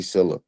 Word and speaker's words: Sylla: Silla, like syllable, but Silla. SYLLA.